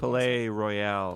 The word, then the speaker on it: Palais Royale: And like with this one, we kind of did a combo because we have Bisto Blanco and then pronounce their name. again. Palais Royale Palais Royale is direct support.